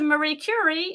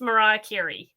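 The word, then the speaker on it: Marie Curie: was distantly related to Marie cury and a guy said it's pronounced Mariah kirri okay little bits of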